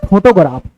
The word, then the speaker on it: photograph: इस फोटोग्राफ शब्द में PH के स्थान पर F लिखा जाता है।